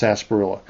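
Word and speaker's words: sarsaparilla: But it's pronounced sasparilla.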